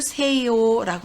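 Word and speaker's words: 西欧: 그래서 서구를 세요라고 합니다. 서구를 세요. 서구는 서양을 이르는 유럽과 북아메리카를 통틀어 이르는 말인데요. 우리나라는 서구라고 발음 나지만 일본어로는 세요, 구를 오로 발음하는 거 주의하시기 바랍니다.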